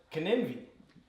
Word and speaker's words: Glenlivet: Glenlivet.